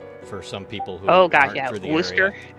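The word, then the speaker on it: Worcester: some people who are Worster. That one always killed me. But it's it's spelled Warchester or something like that.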